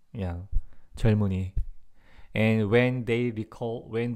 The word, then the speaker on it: 젊은이: Like, you know, the pronunciation. Like this double consonant, I'll say. And this, since this one is 이응, you know, this mium goes to this way. So 젊은, same thing here. Yes, 젊은이, 젊은이. That's the way we pronounce.